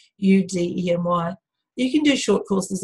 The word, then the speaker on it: Udemy: A great example of that, there's a website called, I never know how to say it properly, but it's Udemy or Udemy. It's spelled Udemy. It's like academy, but with U, Udemy.